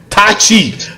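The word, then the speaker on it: Taichi: Tai Chi.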